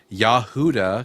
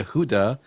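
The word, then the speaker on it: יהודה: but they thought that the name for Judah in Hebrew was Yahudah because they don't know how to pronounce it correctly. And because Yah Ye Yehuda is one letter away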